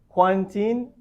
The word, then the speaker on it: quarantine: Okay, so quarantine, we need to stress the first syllable, right? And we already gave you the example. I've just spent 2 weeks in hotel quarantine.